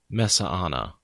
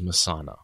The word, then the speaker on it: Mesaana: - back to Misano which we are saying Mehsana yeah I've always gone with Mehsana and because I know in the audio books there's a little while where kate says meza onna she adds an extra a in there because